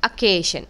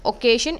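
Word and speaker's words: occasion: Next you have अकेेशन। इट्स नॉट ओकेशन। इट्स अकेेशन।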